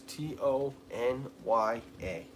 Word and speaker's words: Tanya: Tanya is Tony-A. Tanya. And no, you do not pronounce it Tanya. It is Tanya. Tony-A.